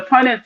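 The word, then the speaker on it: Punnett: Punet Punet square. Um is P U N E T. Oh, I never heard of that. So So the Punet square is it says the Punet square is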